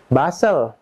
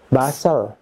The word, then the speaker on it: bustle: Number 6, silent T. Teman-teman, T dengan L, TL, T is not pronounced. TL, T is not pronounced. T-nya tidak dibaca. For example, repeat after me. Hustle, hustle. Bustle, bustle.